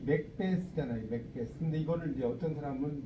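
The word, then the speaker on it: Macbeth: 어떤 사람은 이걸 맥베드라고 쓰기도 해요. 맥베드란 말이 있었어요. 네, 그러니까. 네. 근데 이게 이제 정확하게 스도 아니고 드도 아니에요. 왜냐면 th는 혀를 이렇게 내밀어 놓고 메롱하는 거잖아요.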